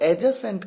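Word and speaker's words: adjacent: यहां पर एडजेसेंट कहते हैं क्योंकि यहां पर डी साइलेंट होता है।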